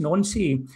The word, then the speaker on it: Nancy: I did, to show my age here, O-level, higher, and 6-year studies French, and it's pronounced Nancy.